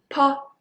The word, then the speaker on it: po: But then when you pronounce po, po, po, well, this piece of paper swing very strongly. Po, po, po. So when you speak po, the air is stronger. When you pronounce bo, the air is just keep it in your mouth.